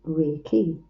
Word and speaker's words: Reiki: Reiki is a two-syllable Japanese word meaning universal life force. Rei, universal, ki, life force, pronounced Reiki.